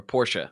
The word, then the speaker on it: Porsche: I always say Porsche, and I know that's not right. Yeah, it doesn't matter. In England, they say it like that, and we're supposed to say Porsche. I mean, that's a German pronunciation, but it doesn't matter.